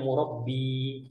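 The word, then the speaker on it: مربّي: mau ditanyakan murabbi ya cara bacanya murabbi orang yang mentarbiah saya orang yang mendidik saya Antum bacanya Mur sudah beda lagi kalau murba artinya selai Antum kalau Mak roti pakai selai Nah itu murabba bahasa Arabnya bukan murabbi NB Ikhwan eh kita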